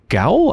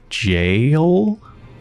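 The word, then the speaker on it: gaol: perfect so i'm sorry is gowl actually meant to be pronounced jail jail that just blew my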